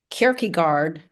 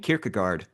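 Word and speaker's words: Kierkegaard: Um so I was learning to say Kerkigard. Um to pronounce it correctly by the time I was four. Um wow. I So I don't I I think I just learned something. I've been saying Kirkagard or something something along those lines, but I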